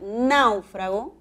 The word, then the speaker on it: náufrago: siguiente con la siguiente serie de palabras puedo pronunciar náufrago con tilde esdrújula naufrago que es un verbo